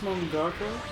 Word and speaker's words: mangaka: pronounced mangaka.